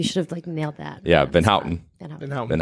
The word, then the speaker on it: Van Houten: Van Houten.